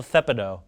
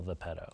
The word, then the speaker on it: Thepedo: And then you get Hansel Thepido. oh yeah, you're right. I pronounced it wrong. It's Thepido. Yeah, it's Hansel Thepido. It's not Hansel the pedo. No. It's Thepido.